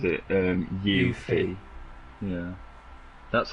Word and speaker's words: Yuffie: And D said he thought I meant from the demo, but the full game it's It's Yuffie. right. So, you know Yuffie, yeah. Yes, yeah, yeah. I didn't want to pronounce it wrong.